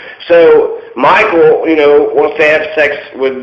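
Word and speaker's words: Michal: and her name was Michael, which is not what, I guess some women are named Michael. It's spelled differently, but it's pronounced the same. So Michael, wants to have sex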